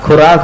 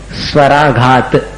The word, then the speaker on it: स्वराघात: क्या बोल रहे हो आप स्वराघात खुराक मत बोलना स्वराघात स्वराघात स्वर का आघात स्वराघात